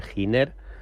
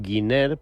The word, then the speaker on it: Giner: De hecho, Plat Power, la tecnología que tiene de electrolizadores, la compró a una empresa americana de nombre Giner. Ellos no la pronuncian muy muy bien, dicen Guiner, pero es una empresa